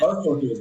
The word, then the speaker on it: Strfkr: how you're describing it, Starfuckers, right? huh? Yes, Starfuckers? Yeah, yeah. it's Starfucker, but it's spelled Strfkr, Okay.